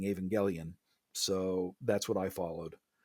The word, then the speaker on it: Evangelion: Yeah, and so your preferred way of pronouncing it is Evangelion. Evangelion, because it's one of those questionable things.